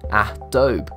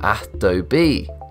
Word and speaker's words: Adobe: People mispronounce this name since they split the name into two syllables, Adobe, rather than three, Adobe, pretty much like Del Monte.